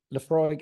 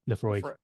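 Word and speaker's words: Laphroaig: Lafroig. How do you pronounce it? Oh, Lefroy.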